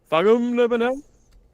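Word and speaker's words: Thangam Debbonaire: Can you pronounce her name correctly, please? Thangam Debonair.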